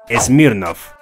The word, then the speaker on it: Smirnoff: mercado, por lo que adoptó la pronunciación francesa para la marca, Smirnoff.